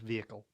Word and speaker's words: vehicle: just north we don't we don't tend to use the H vehicle it's just vehicle but anyway on that